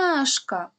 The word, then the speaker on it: ромашка: і визначаємо наголос ромашка куди падає наголос наголос падає на другу на перший звук а який стоїть у другому складі тобто другий склад у слові наголошений тепер робимо звуковий аналіз